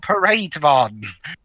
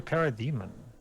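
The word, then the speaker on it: Parademon: Fair ball digivolve to parade Von yeah he said why did he pronounce that it's supposed to be para demon I don't know I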